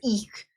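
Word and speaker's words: ich: hear c cuz like ish is just I ish is not always pronounced in certain areas. Germany not everyone pronounces ish. It's always eek like with like a k almost sound.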